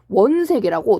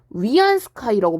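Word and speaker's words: 袁世凱: 이름이 좀 유명해서 원세계라고 동그라미 3개 이름이. 원세계 중국식 발음으로는 위안스카이라고 불리는 사람이 있어요.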